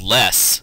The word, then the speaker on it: loess: It had a soil that flowed into it called less. It's spelled LOESS, and it tinted the river this yellowish color that you see here in the picture.